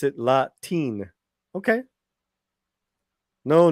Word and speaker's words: Latiné: I pronounce it Latine.